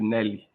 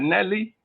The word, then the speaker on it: Nelly: It rhymes with jelly. Yeah. But let's say that Nelly is more experienced than us.